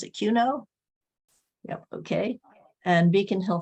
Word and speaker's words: QUNO: Queer Concerns, FLGBTQC, Quaker United Nations Office, you pronounce it QUNO?